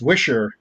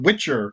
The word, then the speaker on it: Witcher: And I'm like, "Well, yeah, but that's not how we pronounce her name. It's Wisher." And the other part of the family calls it Witcher, so we don't know how to say it either. We just mix it up.